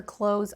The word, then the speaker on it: clothes: I usually shop for clothes online. I usually shop for clothes online. In American English, even though you see a th in the word close, you can hear that I don't pronounce the th close.